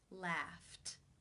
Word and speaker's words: laughed: you pronounce this sound the final sound in the infinitive is the unvoiced F sound since it's unvoiced it is case 1 where the II D is pronounced as the T sound laughed laughed how do you